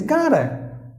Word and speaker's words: gotta: you have the vowel the T must be pronounced like the day by the Americans that's it that's why it is gotta actually it is written as gada but again